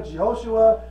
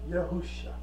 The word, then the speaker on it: Yahusha: and you call him Jehoshua, he's like, that, what? You call him Joshua? Who? You call him Yeshua? Come on now. You're like, that ain't my name. My name is pronounced Yahusha.